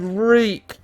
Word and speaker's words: Reek: what oh they had reek reek reek it rhymes with meek but no reek you're